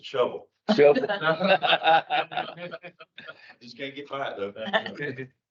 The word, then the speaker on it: Shelbyville: But I was told early on that it's not Shelbyville, it's a shovel.